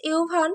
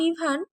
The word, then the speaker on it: ইউভান: ইটস ইউভান, princess, not ইভান।